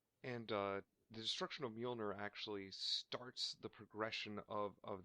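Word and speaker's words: Mjölnir: can never pronounce this right, but his hammer, Mjolnir, I think, or I'm about to get kind Mjolnir. of angry. Mjolnir, thank you.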